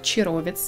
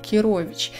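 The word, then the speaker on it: Chirovici: но тем не менее мне написали комментарии в одном из видео что на его родном языке по-моему он румынский автор если я не ошибаюсь он произносит скорее как кирович и честно говоря когда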